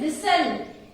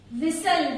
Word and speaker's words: whistle: Then whistle. Whistle. Here which word is silent? Here T is silent.